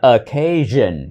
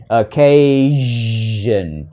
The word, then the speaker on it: occasion: xem main product specifications chữ này đọc là occasion occasion âm giờ dài ha occasion occasions if